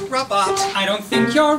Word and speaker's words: Rabat: is not that it but it doesn't rhyme with cat it's robot no it's not heard